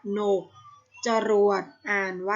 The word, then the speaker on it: กนก: กลาง นํา ค่ะ เช่น กนก อ่าน ว่า กนก จรวด อ่าน ว่า จรวด